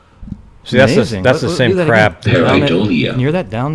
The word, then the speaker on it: pareidolia: Pareidolia.